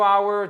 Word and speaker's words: hour: Mais vous ne prononcez pas le H.